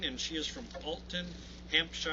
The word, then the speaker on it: Hampshire: she is from Colton Hampshire or Hampshire Hampshire I got to make sure I pronounced right I used to say Shire Hampshire England so Julie thank you